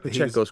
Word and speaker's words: Pacheco: would call it, controversially, Fantastic Four by Carlos Pacheco. I'm not good at name pronunciation, and my apologies, Carlos. Pacheco's correct.